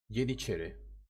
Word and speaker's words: Yeniçeri: English speakers say Janissaries or Spanish say Janizaros. But almost all Balkans pronounce it the same way the Turks do. Yeniçeri.